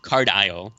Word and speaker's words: Card Isle: enjoyed the idea of Card Isle, but aisle is spelled ISLE.